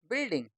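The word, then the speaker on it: building: इसमें यू क्या है? साइलेंट है। तो पढ़ना सिर्फ कितना है? बी आई एल डी आई एन जी क्या बन गया बिल्डिंग आर ओ जी यू ई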